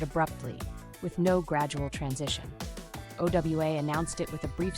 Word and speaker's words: OWA: OWA is a major entertainment hub located in Foley, Alabama.